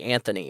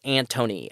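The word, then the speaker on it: Antony: and so every time I see the name I want to say Anthony or ant but it's Anthony a-n-t-o-n-y so every time I see it my my my mouth I I automatically want to pronounce it as Anthony so it's actually Anthony blinken um so while both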